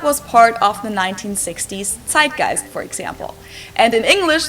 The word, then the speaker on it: Zeitgeist: and some other languages too Americans usually say Zeitgeist in German we pronounce it Zeitgeist and this consists of the word size which